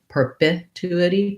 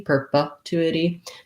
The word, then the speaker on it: perpetuity: like in perpetuity perpetuity the most important thing is that it's a light short un uh relaxed vowel sound so purple two and then it's basically like the word it actually the word not it because we don't really say the t there we do more of a flap so it sounds like idi and this is a